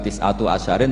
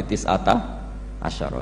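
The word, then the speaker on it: تسعة عشر: Tetap bacanya bukan tis'atu asyarin tapi tis'ata asyara.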